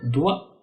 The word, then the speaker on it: doigt: Le G ne se prononce pas dans certains mots, comme dans doigt, vin, ni à la finale, comme dans long, sang et temps.